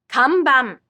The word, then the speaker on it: kanban: This sound appears twice in words like kanban. Kanban.